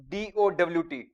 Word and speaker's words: doubt: In case of doubt, it is like this. DOWT. When we are pronunciation, when we are speaking the word doubt, it is such DOWT, such like this word. But actually, when we write it, it is DOUBT. B is silent.